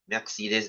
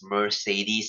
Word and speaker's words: Mercedes: and uh he found the brand you know Mercedes Benz uh guys by the way it's not pronounced as Mercedes uh uh please don't say that it's it's